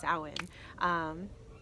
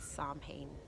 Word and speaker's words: Samhain: out there it is soand you know for the longest time I called the pronounced it Psalm pain which is why I love YouTube and the Internet you learn how to pronounce things correctly alright so